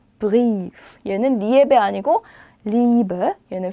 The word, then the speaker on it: Brief: 그럼 얘는 브리에프가 아니라 어떻게 읽어요? 브리프.